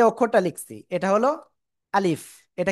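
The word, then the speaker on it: ألف: আমার আ লিফ আলিফ এ অক্ষরে কোন টান হবে না। তো এই অক্ষরটা প্রথমে বলার সময় আ একটু শক্ত আওয়াজ হবে। তারপরে লি তারপরে শেষে ফ আসবে।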